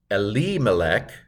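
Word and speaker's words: אֱלִימֶלֶךְ: See if you can pronounce the first part of the Hebrew. Here's how I would do it. Vayamat Elimelech Ish Naomi.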